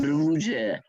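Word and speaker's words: Růže: Cherna Rouge. Cherna means black, and you spell it Cerna, and Rouge is rose. You spell it Ruze.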